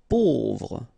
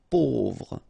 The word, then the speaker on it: pauvre: Pauvre. A, U together will produce this O sound. Pauvre.